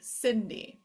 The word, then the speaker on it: Cindy: bubble after it which changes the sound of C to the soft sound s Sy D Cindy so two things to